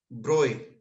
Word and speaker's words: Broglie: था लुस Victor D ब्रॉय हालाकि हम इसको ब्रोग ब्रोग पढ़ते हैं पर इसको ए ब्रो प्रोनाउंस किया जाता है क्योंकि य इटालियन नाम है जी इंडियन नहीं है ना अब हमारे नाम